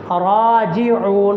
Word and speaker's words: راجعون: وَأَنَّهُمْ إِلَيْهِ، وَأَنَّهُمْ إِلَيْهِ راجعون، را کے اوپر کھڑی زبر، را کو لمبا کرنا ہے۔ راجعون عین کے اوپر